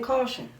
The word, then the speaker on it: Kausion: do you say it my name caution like okay the sign like warning beware that's what I thought